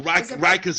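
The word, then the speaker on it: Rikers: Oh, Riker's Island.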